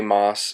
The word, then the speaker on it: Maas: it's by Sarah J moss excuse me Sarah J Maas I believe is how she pronounces it even everyone else pronounces it Moss um I'll have to